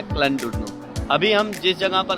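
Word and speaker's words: Llandudno: वैसे तो क्लैनडुर्नो की स्पेलिंग डबल एल से स्टार्ट होती है, लेकिन इसको प्रोनाउंस किया जाता है क्लैनडुर्नो।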